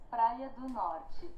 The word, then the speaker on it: Praia do Norte: How do I pronounce it again? Praia do Norte.